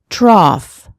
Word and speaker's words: trough: Off, cough, trough.